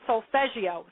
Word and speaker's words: Solfeggio: It's actually Italian and it's spelled It can be spelled with two S's. It sound like a G or G G I O.